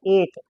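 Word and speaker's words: eight: एक वर्ड हम लिखते हैं एट। क्या लिखते हैं? ई आई जी एच टी। क्या आ गया? एट आ गया। अब एट को हम देखें, प्रोनाउंस करें तो सिर्फ दो चीज निकलती है। ए और टी। बाकी सब चीज साइलेंट। बाकी सब चीज साइलेंट है।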